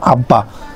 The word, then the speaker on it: আব্বা: বয়ে বফলার বেলায় ব এর উচ্চারণ হয়, তাহলে বতে বফলা থাকলে ব এর উচ্চারণ হবে। যেমন আব্বা, বতে কি আছে? ব যুক্ত আছে, সেই জন্য ব এর উচ্চারণ হয়েছে আব্বা।